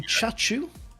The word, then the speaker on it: Chachu: So it is going to be Chachu taking part, which is how you pronounce the name that I didn't that I couldn't pronounce previously.